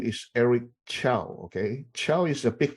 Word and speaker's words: Chou: was born in Taiwan, so this is CHOU. Okay, Chow. Some people pronounce it as Chew. I'm okay. I actually don't mind.